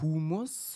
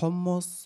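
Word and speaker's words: Hummus: zum Frühstück ist du Humus und verlaffeln am Mittag sind ein Muss aber die Aussprache ist dir egal guck mal es heißt hommus und fafel und ja noch weiß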